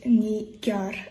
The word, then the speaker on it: Nigar: Here is a tutorial how to pronounce my name. And it is Nigar.